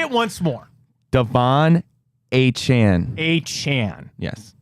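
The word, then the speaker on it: Achane: it I found it it is Devon a Chan not a chain a Chan okay Chan a Chan gotta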